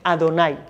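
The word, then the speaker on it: אדני: de las 4 letras, se empezó a pronunciar en su lugar otro nombre de 4 letras, que es el nombre Adonai.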